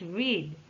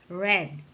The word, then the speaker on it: read: read does not change but its pronunciation changes from long e to short e for the present tense it's read but for the past tense it's read us red some irregular verb change